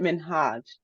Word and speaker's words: Minhaj: I want to say sorry for saying your name wrong is it minhaj yeah it is okay I'm sorry about